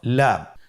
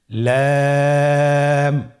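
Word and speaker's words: لام: পরবর্তী হরফ লাম। লাম হরফটি উচ্চারণের ক্ষেত্রে অবশ্যই বারিক হবে এবং তিন আলিফ টেনে পড়তে হবে। আপনারা আমার সাথে বলুন। লাম।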